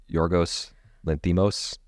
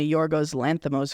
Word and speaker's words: Yorgos Lanthimos: Poor Things director, I can't pronounce his name, so how do you pronounce this? Yorgos Lanthimos?